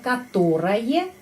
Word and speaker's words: которое: Которое kita menulis которое, tapi pengucapannya которое, karena penekanannya di sini.